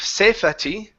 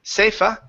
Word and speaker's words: safety: Instead of safety, safa, it's safety. The E is silent, no E sound.